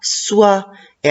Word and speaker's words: soie: très bien c'est oit soi et à la fin la lettre e jeu là prononcent pas c'est un ver à